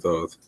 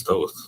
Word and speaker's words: Thoth: The writer is Thoth, or Thoth, I've heard pronounced as well. I say Thoth, an Atlantean priest king